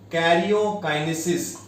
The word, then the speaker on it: karyokinesis: What is the pronunciation? Karyokinesis.